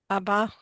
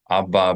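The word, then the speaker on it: הַבָּא: Haba with a he. Mi haba bator. In modern Hebrew, most of the younger people don't pronounce the letter he. So if you said mi haba bator without the he, it becomes mi abba bator, and it sounds like you're saying, who's the father in line?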